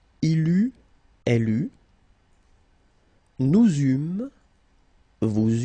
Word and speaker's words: eûmes: Then nous eûmes, so you can make this little link between the two. Final S not pronounced.